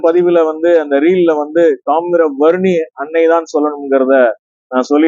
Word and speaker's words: தாமிரவருணி: தமிழ்ல மருகும் போது நம்ம தாமிர வரணி தான் சொல்லும் ஏன்னா காப்பர் கன்டென்ட் தாமிர சத்து நிறைய இருக்கு இந்த நீரில் இருக்கிறதுனால தாமிர வரணி தாமிரம் வரும் நீர் தாமிர வரணி அப்படிங்கிற மருவி வந்திருக்கு நீங்க ஒரு பெயரை தவறாக